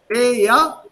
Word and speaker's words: Wer: Wer ist das? Wer ist das? Wer ist das? Not wer ist das? So we call it as where is this? Where? Don't pronounce the R.